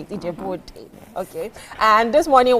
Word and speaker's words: Ijebu-Ode: Ijebu-Ode.